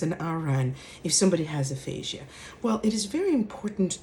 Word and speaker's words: aphasia: smarter that way right so aphasia aphasia no it's aphasia right and so what's